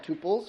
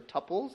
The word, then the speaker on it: tuple: And the instance of a relational table is a multi-set of rows, sometimes called tuples or tuples, depending on how you like to pronounce it.